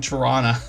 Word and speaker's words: Tirana: And then Tirana, yeah, for anybody that's in Tirana, we don't pronounce the hard T, if that's the way you put that.